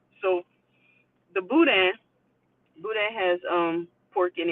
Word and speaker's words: boudin: know well oh and the way to pronounce the word that we were talking about now I say Emma was a Wednesday too is Buddha so the boudin Buddha has um pork